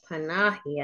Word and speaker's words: Panahi: it's not on here oh Rita panahi I think is how you pronounce it from Sky News in